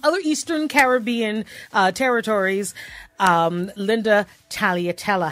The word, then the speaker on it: Taglialatela: that correctly hi so I do pronounce the G then you can or you can say Talia Litella tight do it again